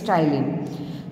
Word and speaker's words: ptyalin: also known as the ptyalin enzyme. Here P is silent, so its pronunciation is ptyalin.